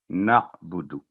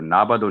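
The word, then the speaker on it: نَعْبُدُ: उसके बाद है नअबुदु, तो बाद दफ़ा जल्दी मना इय्याका नाबुदु, तो नाबुदु नहीं है, जो ना ही नाबुदु है, ना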